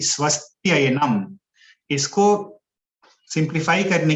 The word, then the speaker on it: स्वस्त्ययनम: तो स्वस्ति और अयनम, लेकिन अगर हम लोग श्लोक में स्वस्ति अयनम बोलेंगे तो वो सही उच्चारण नहीं रहेगा। हम लोग को एक साथ बोलना है स्वस्त्ययनम संधि करके, इदम स्वस्त्ययनम, और पुंसाम,